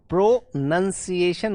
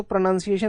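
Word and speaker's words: pronunciation: प्रोनंसिएशन होता है, प्रोनंसिएशन। वैसे ये भी गलत नहीं होता है, बट ये आपका अमेरिकन टर्म्स में यूज होता है। अगर आप वैसे यूज करोगे ना ब्रिटिश में, तो प्रोनाउंसिएशन होता है सिर्फ ये वाला, प्रनन ऐसे करते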